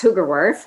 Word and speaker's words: Hoogerworth: there thanks amy no you did a great job it's hugerworth it's a dutch name i'm married into that